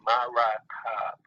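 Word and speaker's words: מרכב: So if you look at chariot on page 56, the proper pronunciation in the ancient Hebrew is really, really simple. It's going to be ma-ra-kab.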